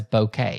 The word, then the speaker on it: bokeh: pronounced as okay it's it's pronounced as bouquet you know like like a bouquet of flowers that's where that's the